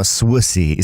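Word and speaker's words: suisse: French dudes saying how swissy spicy is pronounced. Y'all are going to hate me. It's pronounced like Swiss.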